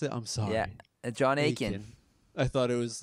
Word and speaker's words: Akin: That's how you pronounce it? I'm sorry. Yeah, John Akin.